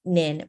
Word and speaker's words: Nhien: first of all my name is nin pronounced like ninja I'm from Vietnam originally